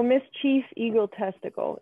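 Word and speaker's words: Miss Chief Eagle Testickle: one but whatever so miss chief eagle testicle is the name and it's not spelled like testicle like the organ it's like test tickle so like like tickle so that's fun and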